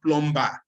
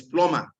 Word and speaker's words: plumber: assignments you should do silent consonants like for example it's not plumber it is plumber so check there are